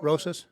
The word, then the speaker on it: Rosas: Am I saying your last name right? Don't let me butcher it. No. No. Roses. Roses. Yeah. Okay. Yeah. It It's spelled that way, and I'm saying it that way.